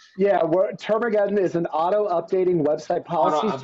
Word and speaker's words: Termageddon: Yeah, Termageddon is an auto-updating website policies generator built for agencies and their clients.